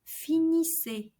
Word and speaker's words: finissez: And that the EZ at the end of vous finissez is pronounced like E. Vous finissez. Like a E accent aigu sound.